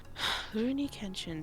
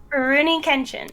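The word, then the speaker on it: Rurouni Kenshin: oh say it again rooney kenshin rooney kenshin rooney kitchen there you go you have to trail you have to trail your r's that's why um so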